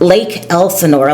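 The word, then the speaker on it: Lake Elsinore: And Lake Elsenor is right outside in the middle between Los Angeles and San Diego County, and it's pronounced Lake Elsenor.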